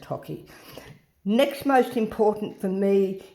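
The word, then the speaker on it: hake: The most important is the hockey brush, H-A-K-E, pronounced hockey.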